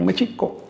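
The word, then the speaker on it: Mēxihco: Ahora bien, el acento recae sobre la I, Mexico, porque todas las palabras del náhuatl son graves o llanas, es decir, se acentúan, todas las palabras de dos sílabas o más, se acentúan en la penúltima sílaba.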